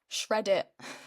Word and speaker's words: Reddit: have heard of, called Reddit. Does it remind? I was gonna say, does it rhyme with shred it?